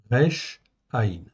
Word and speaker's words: רע: vous le voyez là r Aï ok je peuxter en fait la virgule après ça peut gêner en fait un peu R a b ça se prononce RA en fait en français tout simplement ok c'est un mot